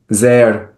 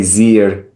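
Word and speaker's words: زیر: The pronunciation is different from Iranian Persian. Um, I'm trying to think of an example. Zer, under. Um, we say zir in Iran, and that the original pronunciation, and this is one kind of vowel, or the same thing in sher, lion. We say shir in Iran. That long a vowel is the original vowel. That is the original pronunciation, the much older pronunciation of these words.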